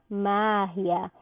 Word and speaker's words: magia: Magia, eu digo mágia.